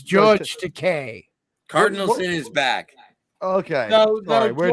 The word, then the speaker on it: Takei: takai all my life my name is George Takei it rhymes with toupee yeah you know what